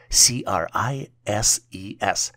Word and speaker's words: crises: The plural version for crisis is spelled as C-R-I-S-E-S and is pronounced as crises.